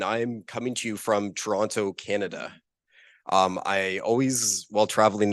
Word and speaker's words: Toronto: coming to you from Toronto, Canada. I always, while traveling internationally, try to put emphasis on the last T, Toronto, because often Canadians, we just roll it and say Toronto really quickly, and people think I'm